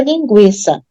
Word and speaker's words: linguiça: é criança né porque todo mundo pronuncia linguiça né Dá para perceber que o u é pronunciado então não precisa prisa